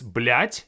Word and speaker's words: блять: Another word that comes from this one is блять, but with a different spelling. They are pronounced the same way, but this one has a D at the end of it.